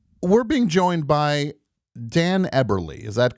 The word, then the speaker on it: Eberle: We're being joined by Dan Eberly.